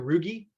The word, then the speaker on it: rugae: These are called your rugae, which is the coolest, like, you know, it's kind of like algae, the way it's spelled.